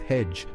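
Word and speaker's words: hej: Start with hedge, pronounced hey for hello, and tack, pronounced tack for thank you.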